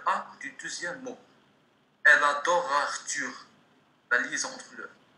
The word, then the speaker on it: adore: Le E تاع adore muet ما ينطقش. même في الهضرة النورمال كي نقولوا adore ما نقولش adoreux نقولوا adore.